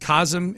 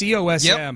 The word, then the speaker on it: COSM: If you heard us talking, you heard us talk about this this I think it's pronounced KASM. It's COSM.